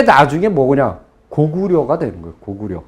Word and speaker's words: 고구려: 고구려. 근데 고구리라고 읽어야 된다.